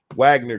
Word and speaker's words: Wagner: the Wagner group is Wagner group guys it's Wagner but they're weird so they could pronounce it Wagner um that they had